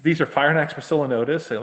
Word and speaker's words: Phrynonax poecilonotus: They not only he said these are Phrynonax poecilonotus, and like you pronounced it properly.